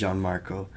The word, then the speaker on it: Jeanmarco: You can pronounce it however you want. I'm going to leave that there. You guys can pronounce it however you want, but preferably it's Jeanmarco.